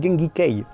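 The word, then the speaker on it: 源義経: rejoindre le continent or la prononciation de son nom en sino japonais c'est gengi Kei du coup au 19e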